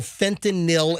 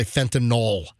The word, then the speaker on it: fentanyl: to overdose from unintentional fentanyl exposure by the way folks it drives me nuts when people say Fentanyl it's not spelled like Tylenol it's fentanyl NYL not n-o-l fentanyl yeah but fentanyl